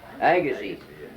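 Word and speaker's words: Agassiz: whatever that means Legacy Agassi yeah I I looked at it and I pronounced it the way it was spelled well anyway you don't do that we did that too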